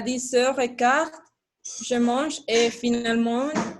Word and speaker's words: finalement: après, finalement, Finalement. Finalement. finalement. Finalement. Finalement. OK. Et la lettre E, la lettre E au milieu ne se prononce pas, OK?